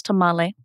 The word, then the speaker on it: tamal: so I think of a Tamal which many of us in English pronounce tamale but a tamale is